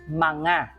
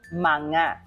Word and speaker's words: mga: that sound is the plural marker which is manga manga so um sounds like m a n